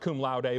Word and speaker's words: cum laude: Usually pronounced cum laude, but you're good because it's phonetic.